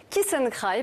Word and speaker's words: kiss and cry: kiss and cry alors permettez moi d'insister sur la prononciation bien franchouillarde on dit keith and cry parce que le kiss